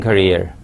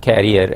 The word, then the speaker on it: career: you in your teaching career? Before I proceed any further, look at this last word. It is career, not carrier, as some people mispronounce it.